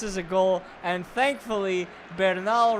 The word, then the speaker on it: Bernal: And thankfully, Bernal rhymes with Yamal.